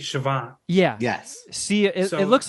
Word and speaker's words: Siobhan: like with a BH but I think it's Siobhan yeah yes see it looks like you would phonetically pronounce it co band but it's Siobhan but then you got to look at like